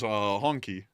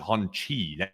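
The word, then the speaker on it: Hongqi: Honchi. I thought it was Honky. No. It looks like that. It's spelled Honquix or something like that. There it is. Honchi. It's Honchi. That QI is chi.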